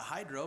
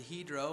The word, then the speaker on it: Hydro: week with he drove some of you may pronounce that hydro but it's actually he'd row and as we sat